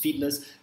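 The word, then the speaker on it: Fiedler: first one is called feedlet feedless fit fightless feedless i believe it's pronounced feedless contingency theory so it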